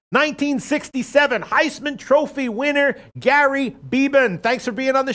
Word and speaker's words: Beban: Heisman Trophy winner Gary beeban thanks for being on the show Gary thank you Peter good morning that's how you pronounce right beeban yes just wanted to make